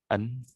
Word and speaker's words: an: An An, A-N, An. So it's the same, and you pronounce it just like a girl's name, Anne.